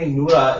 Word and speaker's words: Nura: I said, well, technically Nura is the right way to say it. If you want to if you want to follow Arabic grammar.